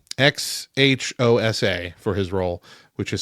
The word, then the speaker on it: Xhosa: I'm going to butcher how it's pronounced, but I think it's Xhosa, Xhosa, for his role, which is spoken in the film.